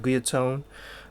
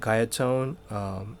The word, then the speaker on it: Guyatone: And now I pronounce that Guyatone. You guys might pronounce it Guyatone. Actually, I don't want to be all technical or anything, but in Japan we at least pronounce it Guyatone.